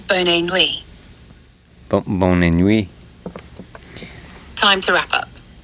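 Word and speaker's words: bonne nuit: Pronounce bonui as boni.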